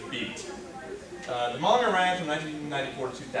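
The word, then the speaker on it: B't: And that's how it's pronounced, Beat.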